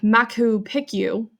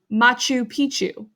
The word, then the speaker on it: Machu Picchu: I got to this one, Machu Picchu, and I said something like Machu Picchu. Bad moose, she said. Machu Picchu. I thought she was nuts until my mom informed me that's how it is pronounced.